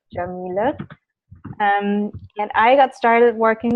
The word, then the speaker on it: Yamile: That's how you pronounce it, Yamile.